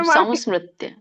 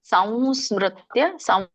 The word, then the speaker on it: ಸಂಸ್ಮೃತ್ಯ: ಸಂಸ್ಕೃತ್ಯ ಉಚ್ಚಾರಣ ಸಂಸ್ಮೃತ್ಯ ಸಮ ಅಲ್ಲ ಮಾತಾಜಿ ಮ ಬರಲ್ಲ ಅಲ್ಲಿ ಸಂವ ಹೇಳ್ತಿವಲ್ಲ ವರ ವರವ ಆ ವ ಮೂಗಿನಿಂದ ಹೇಳ್ತಾರೆ ಸಂಸ್ಮೃತ್ಯ ಕರೆಕ್ಟ ಬಂತ ಸಂಸ್ಕೃತ್ಯ